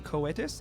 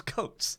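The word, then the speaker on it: Coates: I did uh t coetus I don't know if I'm pronouncing wait say that again Kus uh tanah coetus oh coats it's coats his last name is coats of course it's coats I'm like getting all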